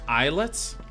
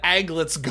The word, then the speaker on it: aglet: Isn't it pronounced eyelets? What? You're gonna come into my channel and tell me that something that is A-G-L-E-T is pronounced eyelets? Those are the holes that the aglets go through.